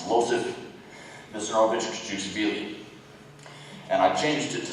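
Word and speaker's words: Iosif Vissarionovich Dzhugashvili: try to say this, Losif Vissarionovich Desugushvili. Why change it? What? Where did you hear that? It's common knowledge. Please answer. Well, first you pronounce it wrong. It's Losif Vissarionovich Desugushvili.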